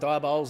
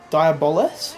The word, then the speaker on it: Diabolus: Pronounces it different to us. What's he go with? Diabolus. He pronounces the E a bit more.